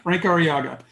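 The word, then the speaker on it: Frank Arriaga: how do you say you're not saying frank our ariaga frankie got it frank ariaga i'd also like to introduce our iupac board for 2020.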